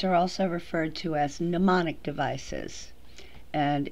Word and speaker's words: mnemonic: also referred to as mnemonic devices and it's pronounced mnemonic the first m is silent and there are many